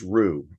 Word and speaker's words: Roux: in addition we also license Rue uh it's Ro it's spelled Roux um and that's our